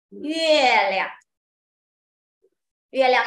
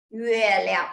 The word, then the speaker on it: 月亮: So pinyin first Pinyin is help you to pronounce Okay 谢谢谢谢 Thank you好，next 月月月亮，月亮 is moon，月亮 moon， very interesting 啊，moon is 月亮，月亮